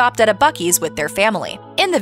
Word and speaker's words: Buc-ee's: my keys yes Texas I know it's called Bucky's I was kidding joking